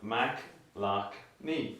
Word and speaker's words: McLoughney: So like the way I broke it down was Mac, lock, knee. A Mac, like an Apple computer, a lock that you turn your key in, and your knee.